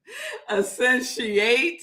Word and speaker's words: Essentiate: My dear soul sister, Deborah, called me and she was like, "Girl, you are pronouncing that word wrong." So our series is Essentiate. Essentiate.